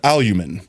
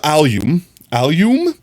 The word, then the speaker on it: alum: Once you know, you want to stress on that first alum syllable.